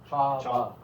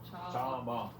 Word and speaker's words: Chaba: Go on, Chaba is the stress on the last. I do stress Oh, it. okay. Chaba. Chaba.